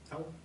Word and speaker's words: Tao: Tao. If you pronounce the T as a D, then Tao.